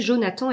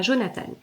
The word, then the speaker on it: Jonathan: Jonathan Becker et donc bien à prononcer Jonathan et pas Jonathan c'est c'est un livre